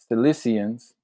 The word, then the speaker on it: Cissians: Next to the Silis Cissians sounds like Sicily, but it's spelled different.